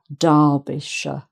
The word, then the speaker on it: Derbyshire: But when it's added on the end of an actual county name, it's pronounced sh, sh, because the first part has more emphasis than the second. So it's Yorkshire, Derbyshire, like that.